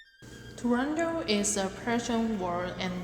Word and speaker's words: Turandot: Scala Patrick Vincent costelli the final T is silent in the Opera's title and the character's name making it sound Toronto soprano Rosa Raisa who